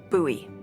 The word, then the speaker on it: Bowie: out this huge Rusty Bowie knife it's actually pronounced buoy what no it's like the last name like